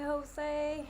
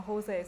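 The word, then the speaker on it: José: I know Jose sounds like a pronunciate H, but spelling is a J.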